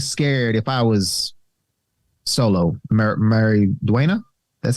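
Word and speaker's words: Maridueña: I'd be kind of scared if I was Solo, Mary Duena.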